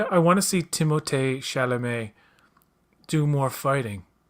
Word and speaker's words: Timothée Chalamet: I, I want to see Timothée Chalamet do more fighting. That's how you actually pronounce. That's actually how you pronounce his name. Believe it or not, Yeah, Timothée Chalamet.